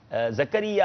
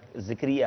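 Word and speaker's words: زکریا: شعیب بھائی زکریہ ہے یا ذکریہ ہے؟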